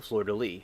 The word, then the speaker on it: fleur-de-lis: um the flower of New Orleans is the fleur-de-lis in the flower of France and also England